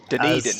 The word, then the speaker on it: Dunedin: season 10 and we've taken the member in Dunedin I I think that's how you pronounce it uh sorry if I put that Dunedin Dunedin yes Corbin will aggressively correct uh still salty